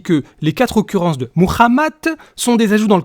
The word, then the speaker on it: Muhammad: occurrence et demi de Mohammad ouh là ou là ou là ou là refais s'il te plaît Mohammad non tu es un spécialiste s'il te plaît donc tu prononces correctement merci Muhammad Muhammad ça n'existe pas